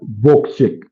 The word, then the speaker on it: Wojciech: Anyways, Pedri says his name is pronounced as Wojciech.